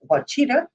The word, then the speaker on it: Washita: Division 1 non-select, Washita defeated Ruston, and we heard it pronounced Wachita on the actual broadcast.